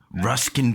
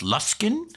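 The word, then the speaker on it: Luskan: meet up with these ruskin pirates although i do believe it up here it's pronounced luskin not ruskin i'm doing my best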